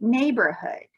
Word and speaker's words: neighborhood: here is showing a neighborhood that e i g h says a neighbor hood and in a neighborhood